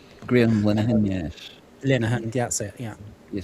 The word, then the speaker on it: Linehan: That was of course the writer of Father Ted, Graham Yeah, Lennon. Graham Linehan, yes. Linehan, that's it. Yeah, Yes. I Everyone can write pronounces his name, but I his have name.